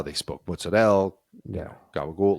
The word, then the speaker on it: gabagool: It's gabagool.